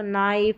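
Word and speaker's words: knife: के एन में के साइलेंट रहता है। चलिए यहां पर देखिए के एन का कॉम्बिनेशन है। शुरू में के साइलेंट रहेगा। तो ये के को हम नहीं पढ़ेंगे। तो नाइफ, नी नॉक यहां पर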